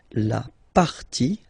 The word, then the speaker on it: partie: And then when they're ending with ie, like here, okay, so basically you don't pronounce the okay, so it will be only the sound i, okay, for instance, la